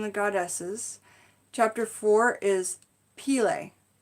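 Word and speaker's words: Pele: goddesses chapter four is peel a I think it's pronounced peel a but it's PE le and I see that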